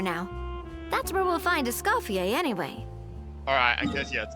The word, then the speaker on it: Escoffier: Oh, not Escoffier, Escoffier. Oh, okay, that makes sense. I wasn't saying the C. Wasn't pronouncing the C.